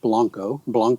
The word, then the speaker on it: Blanco: So being fluent in Spanish, I pronounce it the way you're supposed to pronounce it, Blanco, Texas. But if you're from there, you call it Blanco. Is that true? It is true. Natives of Blanco, Texas say Blanco.